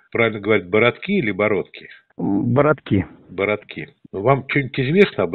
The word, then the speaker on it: Бородки: Он находится в деревне, правильно говорить, Бородки или Бородки? Бородки.